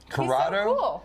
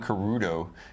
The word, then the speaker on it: Curado: Curado. Have I been saying the name wrong? I've been calling Kudo. Curado. It's an A.